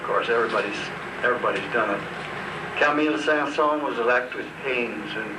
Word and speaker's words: Saint-Saëns: The Carnival of the Animals, I'll tell my story, was written a long time ago by Camille Saint-Saëns for a Swedish princess.